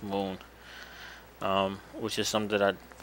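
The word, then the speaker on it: Mun: It's actually pronounced moon, which is something that I found out not too long ago.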